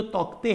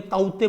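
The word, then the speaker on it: Tauktae: question ये है, cyclone जो तौकते है, या तौकते नहीं बोलेंगे, ताउते बोलेंगे, के is silent here, so correct क्या नहीं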